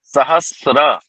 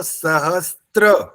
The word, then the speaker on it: सहस्र: क्या बोल रहा हूं आप बोल हो सहस्त्र त की आवाज आ रही है ना य आचार जी त का उच्चारण नहीं कर रहा क्या बोल रहे हो सहस्र स और र कह रहा हूं मैं उच्चारण नहीं